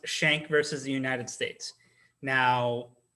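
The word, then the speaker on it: Schenck: quick thing to point out the case is pronounced shank versus the united states now when i was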